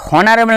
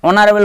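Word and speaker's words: honorable: তো সেই সম্মানীয় ব্যক্তিকে আমি অনারেবল বললাম, এই যে ওই হনারেবল না বলে আমরা অনারেবল বলছি, সেটা হচ্ছে সঠিক উচ্চারণটা।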